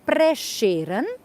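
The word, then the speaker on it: Prešeren: accent so this s with an accent we pronounce as as sh in English so preran and that's the family name of this man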